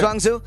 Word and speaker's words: Zhuangzi: Let's pick this Zhuangzi. Is that how we pronounce it? Yes, sir. Zhuangzi.